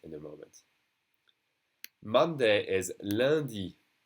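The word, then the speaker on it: lundi: rid of this in the moment monday is landi landi okay that uh landy perfume a flavor even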